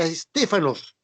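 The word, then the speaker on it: στέφανος: Diadema es una palabra griega, ya, que denota o significa corona real, muy distinta a Estéfanos, con PH. Se escribe Estépanos, con PH. Se pronuncia Estéfano, de ahí donde viene la palabra Estefanía, Di Stéfano, Estéfano, etc.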